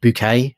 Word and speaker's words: Bucket: Okay, so there's a family in there whose name is Bucket. Right. But the matriarch of the family is this, she's aspiring to higher things, so she pronounces her name Bouquet.